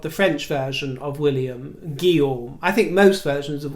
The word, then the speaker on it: Guillaume: they hadn't bothered trying to learn the correct pronunciation as Guillaume, so they said his name as it was written down. Gillum.